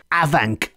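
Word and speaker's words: afanc: being home to an aank monster and that's aank spelled a f n c with the F pronounced as a v in the Welsh language and the aank is a strange creature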